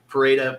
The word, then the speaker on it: Pereira: this fight I mean Pera prasa I'm gonna say Pera because I grew up with somebody whose last name was Pereira and was from Brazil and they always pronounce it Pera so I'm just gonna